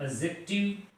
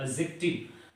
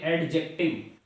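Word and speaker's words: adjective: और फिर फिफ्थ है हमारा एडजेक्टिव। मैंने कल आपको बताया था कि यहां पर हम डी को साइलेंट करते हैं तो इट बिकम्स द एडजेक्टिव, ना कि एडजेक्टिव। This is द एडजेक्टिव।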